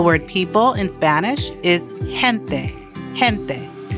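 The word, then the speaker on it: gente: So for example, the word people in Spanish is hente. The G is pronounced with a H sound because E comes after it.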